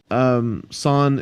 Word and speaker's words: SAN: So, like you've already said, the people behind is it San or Sun? San. It is Sun.